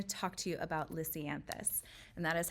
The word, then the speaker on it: lisianthus: specifically I'm going to talk to you about lisianthus and that is how you say it lysianthus